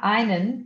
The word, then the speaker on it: ein: O EN, normalmente quando você tem o E no alemão, ele é engolido. Então é ein. Ein. Então vê que você só pronuncia mais o N, tá?